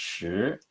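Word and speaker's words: 十: learn this character I would memorize that it's pronounced sure and I would memorize that it means 10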